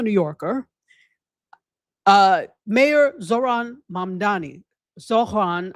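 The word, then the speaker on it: Zohran: Mayor Zoran Mamdani, Zoran, I think is the way you pronounce it, Mamdani.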